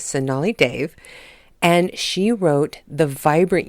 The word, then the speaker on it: Sonali Dev: ago and I was probably pronouncing her name wrong in the last show but her name is sonali Dave and she wrote the